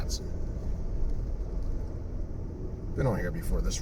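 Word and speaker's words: Atsion: So, now we're on Quaker Bridge, uh, Ation Road. Not sure if that's the correct pronunciation. Atson, I guess. A t S I O N. Atson.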